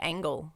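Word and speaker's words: Ángel: angel was sniffing glue his first name is angel right yeah but they pronounce it differently almost like angle I guess because he's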